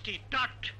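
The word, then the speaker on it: taught: বি লাইনেও দেখো প্রথম রয়েছে টি এ ইউ জি এইচ টি, টট, এখানেও জিএইচ উচ্চারিত হলো না।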